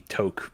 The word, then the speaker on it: toque: all know me said i use the word took and our american friends like what the is wrong with you but beanie yeah so that's why toque was my go-to pronunciation but i believe that actually toke might be more accurate but if you're somebody